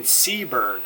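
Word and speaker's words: Seeburg: you guys are wanting to see that in seberg is that how you say it yep okay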